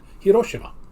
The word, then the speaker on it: Hiroshima: ago, I I heard people start pronouncing it Hiroshima. Yeah. So, I finally looked it up and said, "How would the Japanese pronounce this?" And as the turns out, the Japanese would pronounce it Hiroshima.